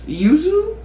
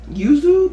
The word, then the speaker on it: Yuzu: And then last but not least, we have a Jo Malone fragrance, and this is Yuzu. Yuzu, that's how I'm gonna pronounce it.